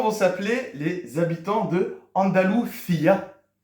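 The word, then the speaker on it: Andalucía: s'appeler les habitants de andaluia accentonique sur le i ça va être les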